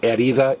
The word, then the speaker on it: herida: So herida is injury. And again, the H is silent.